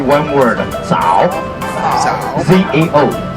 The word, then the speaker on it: 早: So we just instead of say good morning, you just say one word, 早. Z-A-O. 早 may be a little bit harder for Americans Our to first pronounce.